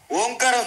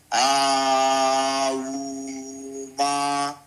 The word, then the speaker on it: ఓం: బ్రహ్మ అంటారు అందుకే ప్రణవ ఓంకారం చూసుకోండి మనం ఓంకారములో మూడు అక్షరములు దాగి ఉన్నాయి నోట్ చేసి ఉంటాయి అన్నమాట విడదీయకూడదు మనం ఆ ఊ మా ఈ ఉచ్చార తప్పు ఓంకారం అనేది ఏకాక్షరం బ్రహ్మ కాబట్టి ఓం అని ప్రారంభించి ఒక ఉత్కృష్టమైనటువంటి ఒక హైట్